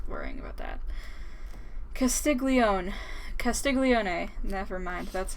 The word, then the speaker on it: Castiglione: imagine watching PewDiePie that's a low IQ move Casteel yone that's it says I pronounce that wrong like 15 times it doesn't